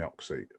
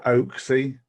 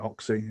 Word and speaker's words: Oxy: but my friends call me Oxy. So some people go Oaksy. Some people go Ox or. And I'm just like Oxy.